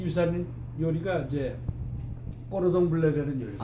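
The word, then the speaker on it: cordon bleu: 우리가 이제 코돈부르라고 하는 것이 이제 그 영국식 발음이고 꼬르동블레라는 뜻이 이제 블루 블루리본.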